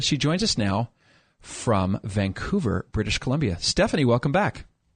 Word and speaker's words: Vancouver: And thank you for pronouncing it Vancouver. It means a lot. What do other people say? Oh, well, down here it's Vancouver, like Hoover. As opposed to that soft little U.